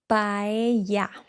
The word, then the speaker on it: paella: This word is pronounced paella. So the double L sound in Spanish, LL and A, for example, key, llave.